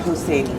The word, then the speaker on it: Husseini: Husseini. Perfect. Okay. I always say it's like Hussein, but Italian, you know?